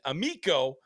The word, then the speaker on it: Amico: Carter Amico, who, by the way, I was mispronouncing his name before, Amico, and his uncle did send me a message. And Amico, kind of like Amigo, but with a C.